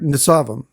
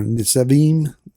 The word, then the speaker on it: Nitzavim: So this word Nitzavim, or Nitzavim, it depends on who you listen to pronounce the word.